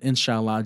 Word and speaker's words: inshallah: of know how to say it now um inshallah yes i got it right okay um is